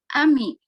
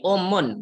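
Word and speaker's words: أم: Ami. Ini umun, bacanya umun.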